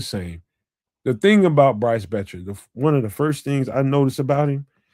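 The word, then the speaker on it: Boettcher: This is linebacker Bryce Betcher. The O is silent.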